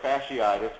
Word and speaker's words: fasciitis: Um obviously the the list of ankle sprains, muscle sprains, tendonitis, plantar fasciitis, which is how that's pronounced.